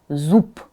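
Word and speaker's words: зуб: So you see this b voiced, but it's at the end of a word. So I pronounce this b as p. Zub, zub.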